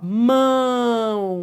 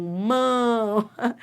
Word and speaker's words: mão: Ó, esse O é semivogal? É porque tem som de U.